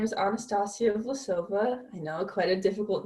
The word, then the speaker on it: Anastasia Vlasova: So my name is Anastasia Vlasova.